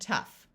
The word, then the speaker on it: tough: and there are also a few words where GH sounds like the letter F in both of these words the o u will have a short u sound so this is rough and tough like I said most